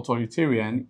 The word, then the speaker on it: authoritarian: The syllabic division for authoritarian is AU hyphen THO hyphen RI hyphen TA hyphen then RIAN. Okay, so you have 1, 2, 3, 4, 5. You have 5 syllables, and that's a polysyllabic word. What are you supposed to do? Apply the rule to that. What rule? That if a word ends with IAN, you place the stress on the second to the last syllable.